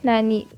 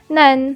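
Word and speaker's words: なん: no in english and third is none or nani the pronunciation of nanandani nan followed by this or counters is pronounced as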